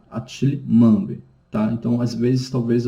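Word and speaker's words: Achille Mbembe: E a outra obra, né, do Attila Mambe, eu vi como se pronuncia o nome, tá? É Attila Mambe, tá?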